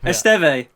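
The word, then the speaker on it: Estève: Pedro Porro, Agbadu, and Steve, or Estav, I don't know how to say it. Esteve.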